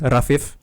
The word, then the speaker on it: Rafif: uh my name uh my first name it's actually supposed to be pronounced rafif like the the I the I between the two F's isn't isn't supposed to be like no there's no there's not supposed to be any emphasis on it you know so uh